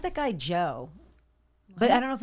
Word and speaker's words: Djo: No, it's Joe. It's the D is silent, obviously.